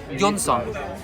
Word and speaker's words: Johnson: Note to self, Jonsson is how you pronounce Johnson.